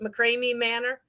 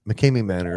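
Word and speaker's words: McKamey Manor: Is it McCrae Manor? Mckame Mckame Manor.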